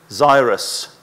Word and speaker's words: Zyrus: perriman of presidency of zyrus rhymes with virus but it's a z as i was telling